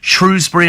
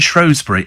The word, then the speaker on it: Shrewsbury: we always had before Shrewsbury and shury apparently either is acceptable or either is acceptable